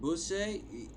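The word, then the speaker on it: Beausset: But Bousset is how you say it around that part of France.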